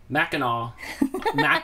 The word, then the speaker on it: Mackinac: Mackinac.